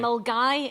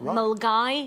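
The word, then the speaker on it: Milngavie: Mulgai. It's spelt Millingavi, but we pronounce it Mulgai.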